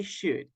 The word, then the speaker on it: should: to use should okay remember the pronunciation stood good we don't pronounce everybody the letter L the letter L is mute okay so we say should Fernando do you have